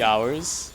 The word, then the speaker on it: hour: there are like three hours the h is silent right in in the word hour there's It's literally pronounced the same as o r.